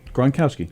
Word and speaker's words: Gronkowski: Gronkowski.